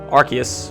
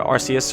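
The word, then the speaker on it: Arceus: just you know sort of talked about how archus or arus or however you say it I'll say archus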